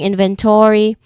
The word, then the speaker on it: inventory: The stress is on the first syllable in inventory and there is a secondary stress on the third syllable to inventory. Inventory. Okay, this word has two level of stress in and to. Well, the first syllable has a stronger emphasis.